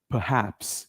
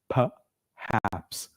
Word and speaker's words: perhaps: this R I repeat that R is silent we do not pronounce this R so how do we how do we how do we pronounce this word it is perhaps repeat after me perhaps once again ladies and